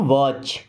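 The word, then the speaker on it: watch: Have to नहीं wrist का मतलब बताया मैंने साइलेंट के लिए ओके अभी आई हैव टू राइट। मुझे लिखना है। I have to वॉच।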